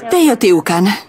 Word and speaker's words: Teotihuacán: Promiňte, jak vyslovujete jméno toho místa? Teotihuacán. Teotihuacán.